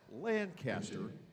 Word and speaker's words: Lancaster: Now, he is from Lancaster, New York. That's the way they pronounce it in the Buffalo suburbs. We could, in Lancaster, Pennsylvania, think of that as the heathen way, but it's just their preference.